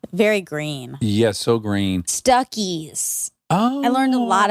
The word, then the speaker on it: Stuckey's: Yeah, my mom would be like, want me to pull off here at Stuckies? And we would laugh. Oh my God, it rhymes with Buc-ee's.